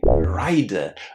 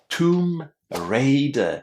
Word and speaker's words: Tomb Raider: Well, lots of students say rider, but it's not rider. These letters ai inside are pronounced as a because we're not talking about riding. We are talking about raiding, stealing from tombs. Tomb raider.